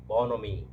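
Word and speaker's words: bonhomie: the universal ball nominee bonomi here h is silent and in the others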